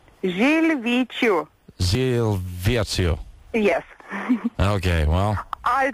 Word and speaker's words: Žilvyčių: So how is it pronounced? Žilvyčių.